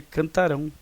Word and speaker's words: cantarão: da sílaba tônica né cantaram e aqui é cantarão então a sílaba tônica está aqui no ra tá E aqui também